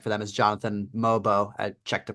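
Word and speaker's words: Mogbo: one I really like for them is Jonathan mobo I checked the pronunciation that's the pronunciation yes sir Pogo mobo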